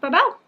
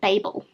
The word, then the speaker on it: Babel: babel this morning which i'm now learning is pronounced memory of babel it's babel not babel babel um i'm very